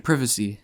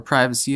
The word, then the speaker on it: privacy: you know you need your privacy as the British say it or privacy as the Americans say it but you know